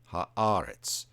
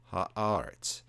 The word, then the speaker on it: haaretz: Bereshit bara Elohim et hashemayim ve'et haaretz. And you may notice that hashemayim and haaretz, they both have an accent on the next to last syllable, and the Masoretic accent falls there.